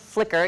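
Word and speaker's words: Flickr: will learn how to upload a picture to flicker um f l c KR if you've never used that it's pronounced flicker even though it's a little bit confusing on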